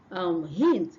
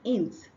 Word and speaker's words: hint: The next one is hint and not int.